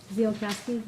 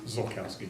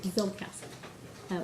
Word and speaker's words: Zolkowski: Zielkowski, am I pronouncing that correctly? Zolkowski. Zolkowski.